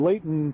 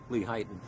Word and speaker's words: Lehighton: the at his place, the Hillside Garden in Layton, PA, isn't it, Ed? Lehighton. Lehighton, excuse me for my lousy pronunciation of these Eastern terms that I'm not familiar with.